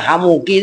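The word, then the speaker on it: حموكِ: Makanya hamuki itu sebenarnya bacanya dominan ki gitu loh.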